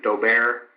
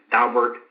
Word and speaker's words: Daubert: In Texas, we refer to the Supreme Court case as Daubert. I've been corrected by Dr. Miller several times that it's Daubert. However you pronounce that, and